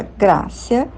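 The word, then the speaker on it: gratia: que vem do Latim é grácia com t mas se pronunciava grácia que quer dizer grato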